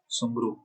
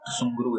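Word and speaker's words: Tsugaru: तो होन्शु और होकाइडो के बीच में जो स्ट्रेट है इसे कहते हैं सुंगरू, ठीक है, सुंगरू स्ट्रेट कहते हैं। टी साइलेंट होता है इसमें, सुंगरू स्ट्रेट कहते हैं इसको।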